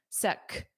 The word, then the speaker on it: sec: Notice that pronunciation. It ends on a hard k, sec, sec.